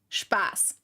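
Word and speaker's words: Spaß: yeah it's the the funny thing is it's pronounced spass so spass is actually fun in German and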